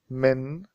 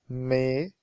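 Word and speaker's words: من: television will give em when we speak first we pronounce it like Mei Mei but this rule cannot be applied to every sentence so it's better to pronounce it like men for example F may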